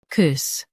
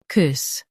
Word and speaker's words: coups: Both US and UK have the same pronunciation of this word, COUPS. Now read the syllables shown on the screen naturally. COUPS, COUPS. Stress COU and keep it smooth. The P is silent.